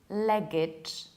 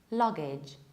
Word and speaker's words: luggage: It's not luggage, it's not luggage, it's luggage. Luggage with a very reduced A. It's A, not E.